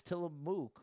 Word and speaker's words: Tillamook: Proper way to Tillamook is Tillamook with emphasis on the first syllable, and it rhymes with book. To pronounce it, say till firmly.